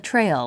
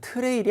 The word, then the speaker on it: trail: 일단 발음이 여러분 트레일이 아니에요. 트레일이 아니라 아까 제가 얘기해 준 대로 L 앞에 모음이 있으니까 살짝 넣어서 T하고 R 만나면 약간 치읓에 가까워요. 트가 아니라 추대, trail 이렇게.